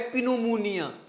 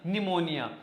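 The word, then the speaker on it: pneumonia: ये ये तो है पनमनियन मोनिया नहीं है पी के बाद एस या एन आ जाए ना तो पी क्या हो जाता है साइलेंट तो न्यू मोनिया निमोनिया जो निमोनिया की बीमारी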